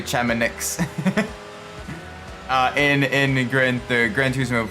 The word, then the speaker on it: Chamonix: Like if you look at like Ice Arena and Gran Turismo, it's a French name, Chamois, I think it's how you pronounce it, Chamois. I'm just gonna say Chamonix.